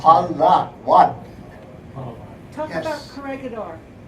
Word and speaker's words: Palawan: Palawan is P-A-L-A-W-A-N. Just the way you say it. Palawan.